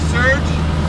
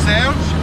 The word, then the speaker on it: Serge: So we're just taxiing out in this de Havilland Beaver, and we got our bush pilot here, Serge, or Serge, as it's supposed to be pronounced, and we are about to head out, so I guess you could say our trip is officially underway.